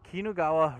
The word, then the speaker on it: Kinugawa: oh that's how you say the name here kinugawa royal hotel thank you this place was awesome